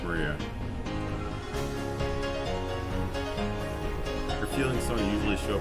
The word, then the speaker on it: Maria: Of course it's pronounced Maria.